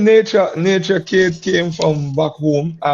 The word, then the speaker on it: Naycha: And the name was Nature, like, as you had to spell it, Oh yeah. Nature. But I came to Antigua, and then Antiguans don't call me Nature. they say nature, Okay. with the dialect.